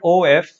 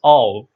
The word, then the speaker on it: of: to know the word o f it is not pronounced with the f sound it's pronounced with a v sound it's pronounced of it's actually pronounced of using f sound for